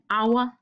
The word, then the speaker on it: hour: lyd an Apple an hour an elephant selvom our starter med en konsonant så udtales det altid med en vokal fordi H er stumt an hour man bruger